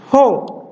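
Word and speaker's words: ὁ: Jadi ini ada tanda nafas. Tanda nafasnya kuat atau lemah? Perhatikan di sini dalam huruf Ho ada tanda pernafas. Tanda pernafasannya adalah tanda pernafasan kuat. Jadi harus diucapkan Ho.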